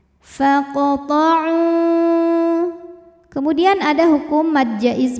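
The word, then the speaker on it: فَاقْطَعُوا: Kemudian ada hukum qalqalah sughra karena huruf qalqalah yaitu qaf sukunnya asli dan ada di tengah bacaan, maka dibaca memantul dengan pantulan yang kecil. Faqta'u.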